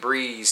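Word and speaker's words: bris: that'll be a Bree pretty simple because it's almost the same actually it's pretty close the same as way you say it too but it's slight a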